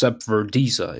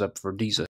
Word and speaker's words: Zep Verdeeza: This is Zepverdiza. It should be pronounced Zepverdiza.